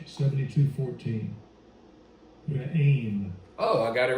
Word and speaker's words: Re'im: I guess that's how you pronounce it, right? Strong's H, 7214. Re'im.